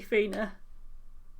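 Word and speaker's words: Feena: Lady Rhea, Lady Fina.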